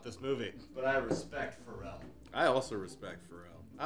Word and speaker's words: Ferrell: because movies with Ferrell, I read Ferrell for a second. I was like, well, it's movies with a great music producer. I read it. It's spelled Ferrell, not Ferrell. Oh, it is? Okay. Yeah, his has an F.